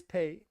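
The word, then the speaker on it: pâté: It is paid.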